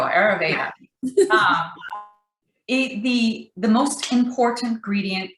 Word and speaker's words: Ayurveda: the indian uh cookie ayurvuda how do you say that there you go ayurveda the the most important